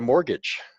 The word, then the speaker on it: mortgage: You can get a mortgage. Mortgage. It's pronounced mortgage. The T is silent.